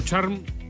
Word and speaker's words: Charme: Bien pronunciado tu apellido, ¿no? Charm. En verdad en Chile es Charme, en Francia es Charme, pero nadie me ha dicho nunca, me han dicho Charm muchas veces, con decir la E.